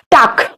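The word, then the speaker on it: talk: टाक, इसको टालक कह सकते हैं। हाँ, नहीं, एल आपका साइलेंट है, इसको हम कहेंगे टाक।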